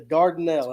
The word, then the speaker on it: Dardanelle: Dylan, have you ever been to Dardanelle? And I think I'm pronouncing that right.